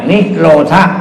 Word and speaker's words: นิโรธ: ทุกข์ สมุทัย นิโรธ นิโรธ นิโรธะ ถ้า เป็น บาลี อ่าน ว่า นิโรธะ ถ้า เป็น อักษรศาสตร์ ตรง